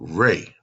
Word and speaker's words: Ra: uh came forth called Rey it is spelled r-a but it's pronounced re okay in that manifestation